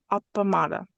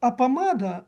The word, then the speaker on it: appamāda: The uh penultimate syllable of a word apamada has a long a Yeah. Yes. But the root was med.